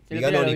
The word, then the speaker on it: Viganoni: Viganoni. Viganoni, porque tiene una sola N, bueno, dos veces.